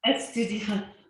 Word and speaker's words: estudiante: Estudiante. Un estudiante, una estudiante. Una estudiante. Estudiante. You have to pronounce the te at the end.